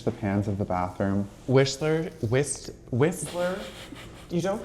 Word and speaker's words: Whistler: There is a T. Don't pronounce it.